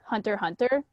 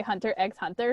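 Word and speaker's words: Hunter × Hunter: reminds me of when people would say like hunter hunter but like they would pronounce the x in the in between so they say hunter x hunter and i'm like guys i ironically still do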